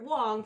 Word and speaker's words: Wang: actually I realize uh we have to stop making Wang jokes because that is not how Garrett Wong pronounces his name oh